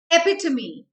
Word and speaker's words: epitome: and s for scrap epitome now guys this is not pronounced as epitome this is the wrong